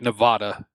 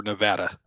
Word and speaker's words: Nevada: it's been Americanized yeah just like Nevada or Nevada that will never be correct no never even if Jeremy Clarkson says n Nevada Nevada sort of the East Coast people say it too oh everybody says it yeah I mean you watch the news they all say Nevada you know nobody's from Nevada if they say Nevada yep it's like Missour